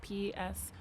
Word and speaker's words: Psolariis: So my artist name for music is Psolariis, with a silent P at the front, so Psolariis. And I also do art